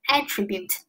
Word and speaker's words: attribute: 好，第八单词，attribute。听发音，attribute。听发音哈，老师现在重音在低音节，名前动后，所以说